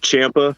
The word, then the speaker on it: Campia: your last name bro it's pronounced champa it's italian so it's spelled out pronounced with h i've been butchering that